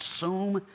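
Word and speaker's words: שׂוּם: front of them that is strongs number 7760 pronounced suum and of course it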